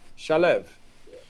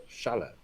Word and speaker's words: Shalev: Shalev. Yeah. I remember the accents on the first syllable. Shalev.